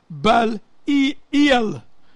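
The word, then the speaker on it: Belial: And what concord have Yahweh Shai with Baal-il, which is, who's that to read, say it like that? Baal-il. That's how you're supposed to say it, which is another name for the devil.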